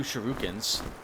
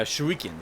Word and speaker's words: shurikens: at least have two shurukins uh shurikens sorry oh God I'm saying it wrong again even then all right